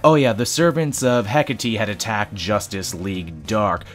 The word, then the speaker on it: Hecate: off the servants of Hecate ESC look I learned how to say it right and all it took was a whole comment section of people telling me I said it wrong never let it be